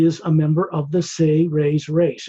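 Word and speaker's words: Seres: He is a member of the Say-Rays race, S-E-R-E-S, pronounced as if it sounds like S-A-Y-R-A-Y-S, Say-Rays.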